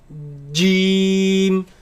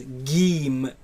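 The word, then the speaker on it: جيم: And it is incorrect to pronounce it as geem with a g sound.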